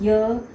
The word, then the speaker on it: य: बच्चे कई बार इस य को भी ज का उच्चारण करते हैं, ये भी ज बोलते हैं, ये भी ज बोलते हैं। तो बच्चों को यही सही प्रोनाउंसिएशन हमने बतानी है, ये ज है, ये य है।